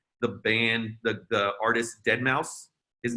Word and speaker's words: deadmau5: name started come out everyone called him deadmau5 no one called him dead mouse no one knew that's how you're supposed to pronounce it what's sort of like